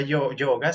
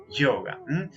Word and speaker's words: yoga: ruidito ahí de gaseosa, yoga. Ese es verdaderamente el sonido antiguo de la y.